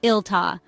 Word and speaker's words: iltaa: The second word, iltaa, sounds like iltaa, with the emphasis on the first syllable.